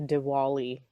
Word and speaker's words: Diwali: Let's do this Diwali. Diwali. Okay. Am I saying it right at all? With a W or a V? W with the Diwali. Deepavali is with the V.